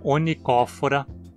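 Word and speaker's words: Onychophora: O mesmo esquema serve para os nomes onicófora, scalidófora. Em nematomorfa, a penúltima sílaba agora termina numa consoante e, portanto, precisa receber o acento.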